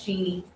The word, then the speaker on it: Chini: So, Chef Chini.